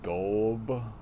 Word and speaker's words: Golub: In between is like Amityville Death Toilet, which has Isaac Golub, I think is how his last name's pronounced, as a different character